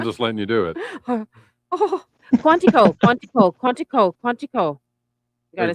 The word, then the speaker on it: Quantico: Quantico. Quantico. I love that word. Quantico. Quantico. Quantico. Sorry. No, you're you're tired and you're having a moment. I'm just letting you do it. Quantico.